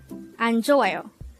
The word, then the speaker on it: 안좋아요: Anjo. Anjo. This is pronounced as a four syllable word.